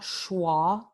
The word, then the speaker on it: schwa: Esta vocal se llama una vocal reducida porque no tiene ninguna tensión. La boca está en su posición más neutral para pronunciar like the, you know, the dog, the, ok.